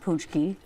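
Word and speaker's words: pączki: of Marty gr and it's spelled so not like it sounds it's p a c z k i but it's pronounced punchki I don't make the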